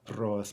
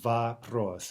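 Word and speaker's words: вопрос: is ba o us not for us but bob ross right because as we know that first or is unstressed and because it comes in the syllable directly before the stressed syllable it is it rises as i like to say to an AH bob ross okay now for hard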